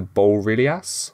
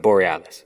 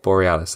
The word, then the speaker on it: Borealis: the ele Bas yes I think it's a play on the Northern Lights right Borealis Borealis that's it we also got to